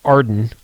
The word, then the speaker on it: AREDN: A redden, which is pronounced Ardan, um which is the newer firmware.